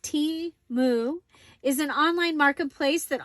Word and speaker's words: Temu: Yes, so Temu, pronounced T-Mu, is an online marketplace that offers the most competitively priced products in multiple categories.